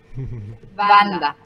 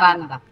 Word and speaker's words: Wanda: Wanda. Es un nombre polaco, una princesa polaca, entonces se pronuncia Wanda. Uh-huh. Aunque se escriba con... Se escribe con W, pero se pronuncia con B corta.